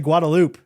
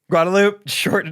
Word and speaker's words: Guadalupe: tons of oh uh Guadalupe they say guadaloop guadaloop down a little bit gu a loop I was always proud